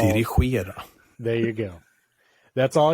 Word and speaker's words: Dirigera: I'm just going to play him saying it whenever I need to say the IKEA Dirigera Hub. What do you think of that? That's pretty good, I'm pretty sure it's pronounced dirigible.